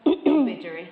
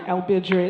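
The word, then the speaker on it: Ilbijerri: Ilbijiri. Thank you, Ilbijiri. It's all about where you accent it.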